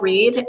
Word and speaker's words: Rhead: medias uh under Reed and unfortunately my name is not the easiest to spell so beware there's two RS in there and then Reed is spelled rhe e a d uh I'm also uh